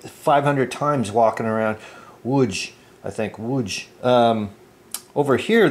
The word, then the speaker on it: Łódź: on the 10th of October, the Germans occupy Łódź. Łódź. You think I'd be able to pronounce it by now? I can send it like 500 times walking around. Łódź, I think, Łódź.